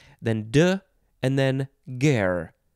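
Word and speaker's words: guerre: get that r sound then de and then ger spelled g-u-e-r-r-e noun from 1915 a french military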